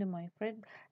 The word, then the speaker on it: De Moivre: kali yaitu Abraham Demokrat De moivre bacanya Abraham Demi free dalam artikelnya ton 1733